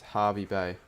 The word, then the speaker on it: Hervey Bay: is just queensland but we pronounce herbie bae as harvey bay the famous herbie bell